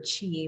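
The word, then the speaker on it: qi: The word, and I'll talk a little bit more about ki or chi, which is how it's pronounced in Chinese medicine, is it's energy, but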